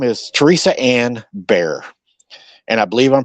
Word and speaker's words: Bier: But anyways, um, so her name is Teresa Anne Bearer and I believe I'm pronouncing her name right. B I E R is pronounced Bear in this situation, correct?